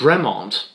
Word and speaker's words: Bremont: It's Bremont.